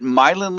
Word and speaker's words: Myelin: Is it Milin leadership?